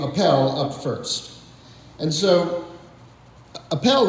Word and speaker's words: Appel: up first and so Appel is often mispronounced apple and so the professor